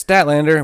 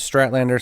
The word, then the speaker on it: Statlander: was Mercedes Monae against Chris statlander which I keep pronouncing wrong as Strat Lander so my bad on that on previous episodes and I was hoping